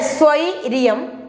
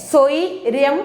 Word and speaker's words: സ്വൈരം: എന്ന ഉച്ചാരണത്തിലാണ് വരേണ്ടത് സൃഷ്ടി അടുത്തത് സ്വൈര്യം സ്വൈര്യം എന്നാണ് ഇരിയം വേണ്ട നമ്മൾ വീടുകളൊക്കെ പറയുന്ന ഒരു സ്വൈര്യരും തരത്തില്ല അല്ലെങ്കിൽ ഒരു സ്വൈര്യരയും കിട്ടിയിട്ടില്ല എന്ന് പറയാറുണ്ടല്ലോ അത് തെറ്റാണ് സ്വയരം എന്നു മതി യാ വേണ്ട ഇവിടെ സ്വയരം സ്വയരം ആണ് സ്വൈരം